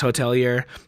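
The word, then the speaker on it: The Hotelier: like the hotel year they changed it to like the French like hotelier but it's still pronounced hotelier it's a yeah so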